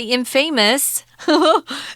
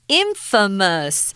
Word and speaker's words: infamous: the Ripper yeah Infamous remember uh this is pronounced differently don't say Infamous that's wrong Infamous so they're famous for bad things for doing